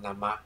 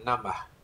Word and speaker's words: namaḥ: yes, they pronounce on namaḥ śivāya. No, it's on namaḥ. Namaḥ. There is a sound there. Van egy ilyen hang. It's not namaḥ. Ez. This H is not mute.